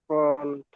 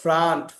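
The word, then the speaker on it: front: এটা কি, এটা এফ, এফ আর ও এন টি, এটা উচ্চারণটা কি? ফ্রন্ট। ফন্ট। ফন্ট, ফন্ট। না, ফ্রন্ট। এটা উচ্চারণ ফ্রন্ট। হলো ফ্রান্ট, ফ্রান্ট, এটা উচ্চারণ হলো ও, ফ্রান্ট।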